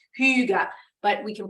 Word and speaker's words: hygge: hygge and and yes that word hygge is pronounced who you got but we can pronounce